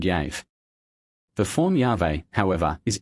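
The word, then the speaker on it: Yahweh: On the other hand, the four consonants Y HVH can hardly have been pronounced otherwise than as Yave. And this pronunciation is supported by the two Greek writers Theodorit and Epiphanius who say that the word was sounded Yave.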